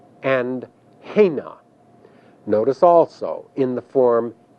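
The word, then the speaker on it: הֵנָּה: And there are also two third feminine plural forms that translate they, and in Hebrew these forms are pronounced hain and hena.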